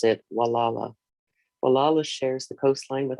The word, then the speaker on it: Gualala: trail in downtown walala mendocino county california we pronounce it walala walalu shares the coastline with our neighbors on